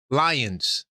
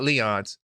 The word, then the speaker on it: Lyons: How many of you guys know who Malachi Lyons? That's how they pronounce it, not Leons, Lyons.